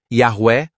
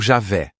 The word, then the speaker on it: Javé: Devido à ausência de vogais na escrita hebraica antiga, a pronúncia exata de IH foi perdida ao longo do tempo. Yahué Javé. As reconstruções acadêmicas mais comuns para a pronúncia são Yahué ou Javé.